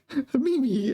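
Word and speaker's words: 秘密: Mimi, both of them have the same pronunciation. It's the same me, the second me is the same.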